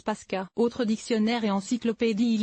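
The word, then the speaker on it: Паска: en biélorusse note le linguiste le mot se prononce paskaa autre dictionnaire et encyclopédie il existe de nombreux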